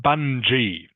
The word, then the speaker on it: bungee: It's pronounced bungee with a soft G sound.